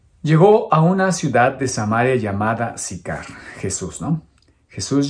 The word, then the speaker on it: Samaria: Unos pronuncian Samaria, pero aquí en mi Biblia está acentuado y indistintamente se puede pronunciar Samaria o Samaria. Entonces, como estoy leyendo mi Biblia y tiene el acento en la I, pues voy a pronunciar Samaria.